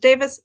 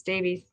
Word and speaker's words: Davies: Cinema by Stephen Paul Davies or Davis. I don't know. Some people with that last name spelling pronounce it Davis. Sometimes it's Davies.